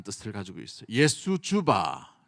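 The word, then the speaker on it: Jesu Juva: 올려요 JJ 이게 뭐냐면 예수 주바라는 뜻을 가지고 있어요 예수주바 쭈쭈바가 아니고 예수 주바이라 했는데 예수여 도우소서라는 단어를 씁니다이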